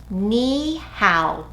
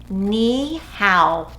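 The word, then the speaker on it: 你好: Ni hao. Will you say it with me? Ni hao. Nicely done. Let's put it together in a song. Let's wave and say ni hao, ni hao.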